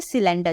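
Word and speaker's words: cylinder: खाना बनाने के लिए सी के बाद क्या यूज हुआ है वाई का यूज हुआ है इसलिए मैं एज अ स प्रोनाउंस कर रही हूं सिलेंडर और इसके अलावा कहीं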